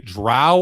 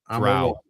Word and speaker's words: drow: You either say it like cow or you say it like snow.